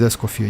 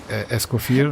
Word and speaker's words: Escoffier: I have a little bit like problem with pronunciation, like Escoffier, like because like actually it's a French name and you don't need to pronounce like last R, right?